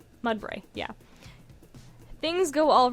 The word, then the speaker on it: Mudbray: That's how it's pronounced? Mudbray, yeah.